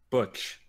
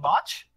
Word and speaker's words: Butch: Cassidy and Botch? Yes, Botch. It's pronounced Butch. It's Butch.